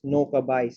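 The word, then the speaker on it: নৌকা বাইচ: So today I'm going to share with you about boat race, and the Bangla pronunciation is Noka Bais in Bangla, and English is boat race.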